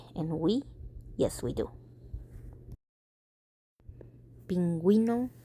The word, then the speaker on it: pingüino: And they all have two little dots on top of the U because you are allowed to pronounce the U even though it's next to the G.